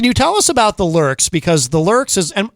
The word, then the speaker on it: Lürxx: So, can you tell us about the Lurks? Because the Lurks is am I pronouncing that correctly? The Lurks.